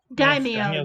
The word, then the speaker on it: Daimyo: Daimyo, yeah.